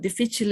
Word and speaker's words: difficile: the same okay foreign Clostridium difficile or maybe the physical it too but difficile is the most common way and the correct way of course um colleagues